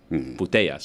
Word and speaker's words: Putellas: That's her name, Putellas.